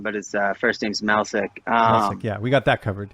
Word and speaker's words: Melsik: Melsik, yeah, we got that covered.